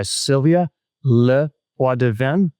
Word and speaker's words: Sylvia LePoidevin: Today, I'm joined by Sylvia Leadven.